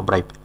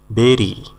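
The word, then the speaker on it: bury: খুশ নেওয়া বা দেওয়া খুশ দেওয়া বা নেওয়া ব্রাইভ খুঁজ দেওয়া বা নেওয়া বিল্ড বিল্ড মানে নির্মাণ করা বিল্ড মানে নির্মাণ করা বেরি বি ইউ আর ওয়াই বাড়ি না কিন্তু বা বুড়িও না কিন্তু বেরি বি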